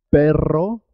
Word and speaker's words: perro: Perro se escribe con dos R's y suena doble. Perro. Cuando se escribe con una sola R, suena simple. Pero.